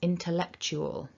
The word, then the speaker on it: intellectual: to say tell it's so don't over pronounce that vowel keep it weak and going towards the